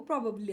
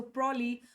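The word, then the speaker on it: probably: Mostly mostly ಅಂತ ಯೂಸ್ ಮಾಡ್ತೀವಲ್ಲ ಅದನ್ನೇ ನಾವು ಪ್ರಾಬಬ್ಲಿ ಅಂತ ಹೇಳಿ ಯೂಸ್ ಮಾಡ್ತೀವಿ. ಸೊ ಪ್ರಾಬ್ಲಿ, ಪ್ರಬಬ್ಲಿ ಅಂತ ಯೂಸ್ ಮಾಡೋಂಗಿಲ್ಲ. ಪ್ರಾಬಬ್ಲಿ, ಪ್ರಾಬಬ್ಲಿ ಅಂತ ಯೂಸ್ ಮಾಡಬೇಕು. ಪ್ರಬ್ ಅಬ್ ಸ್ವಲ್ಪ ಮೆತ್ತಗೆ ಹೇಳಬೇಕು. ಪ್ರಾಬಬ್ಲಿ. ಪ್ರಾಬಬ್ಲಿ ಅಂತ ಹೇಳಬೇಕು.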